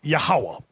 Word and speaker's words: Yahawah: Now, depending on your form of Hebrew, you have some people pronounce it Yahweh. Another group pronounce it Yahuwah. We were taught Yahawah.